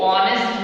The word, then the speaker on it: honest: Here, though there is H consonant, but the sound begins with O, and O comes in our vowel.